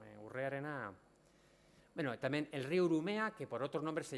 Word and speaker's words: Urumea: Bichia Ereau, Ortelio y Medina le llaman Brumeo, por no acertar la pronunciación del nombre vascongado Urumea, que quiere decir agua delgada o mansa.